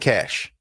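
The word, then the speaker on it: Kash: what did I say Kos okay Kos that ain't cash I I you know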